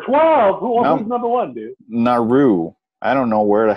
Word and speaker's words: Nauru: Nauru.